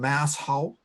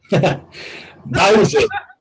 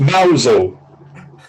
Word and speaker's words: Mousehole: But can we get any better than Mousehole? Mousel. It's pronounced Mousel. Do you know what I mean? You look at it, and go Mousehole.